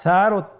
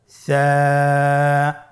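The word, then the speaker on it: ث: ছিল 2টি নোক্তা, আর সারও 3টি নোক্তা রয়েছে, সেটা হলো তার উপরে। তাহলে 3 নোক্তাওয়ালা হরফটিকে কি বলে? সা। আবার বলুন সা। সা হরফটি বারিক মানে পাতলা করে উচ্চারণ করতে হবে।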